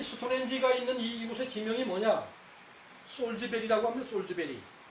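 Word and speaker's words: Salisbury: 솔즈베리라고 합니다. 솔즈베리. 근데 이 솔즈베리의 스펠링을 보면은 요 살이 누구냐? 살. 이게 삼신할머니입니다. 불이 스펠링대로 발음하면 살리스불이라는 걸 알 수가 있습니다.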